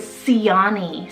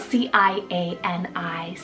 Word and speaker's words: Ciani: Second C option is Ciani, spelled C-I-A-N-I, Ciani.